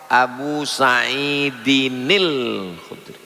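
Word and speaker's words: أبي سعيد الخدري: Abu Sa'idin Al-Khudri, kalau disambung muncul nun kecil, namanya nun wiqayah. Abu Sa'idinil Khudri, begitu cara membacanya.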